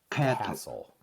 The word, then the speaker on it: castle: Castle. I'm sorry. T is silent.